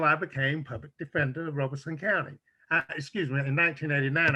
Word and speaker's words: Robeson: robeson county and we we actually pronounced it roberson but others who not from here they they say robeson so roberson robinson but